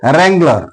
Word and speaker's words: wrangler: And wrangler. Wrangler means a cowboy. Here W is followed by R. That's why W is silent.